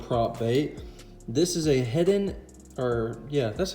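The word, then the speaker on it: Heddon: This is a Head-In, or yeah, that's how you say it, Head-In baby torpedo.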